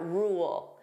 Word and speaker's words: rule: So, first let's take a look at rule. Notice here there are two sounds. We have rule. So, that dark L. Rule. Rule. So, if I pronounce this fully, you hear those two sounds.